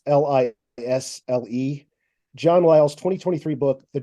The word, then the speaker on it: Lisle: John, and I believe the last name is pronounced Lyle. It's Lisle.